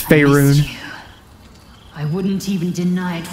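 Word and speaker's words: Faerûn: Fey Run. pronounced it wrong. It's Faerun.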